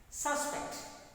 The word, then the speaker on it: suspect: Suspect, what's that? Suspect. See, observe me, I use that force on first syllable in my utterance, in my pronunciation.